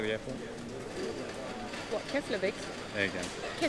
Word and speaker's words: Keflavik: What, Keflavik? There you go. Keflavik.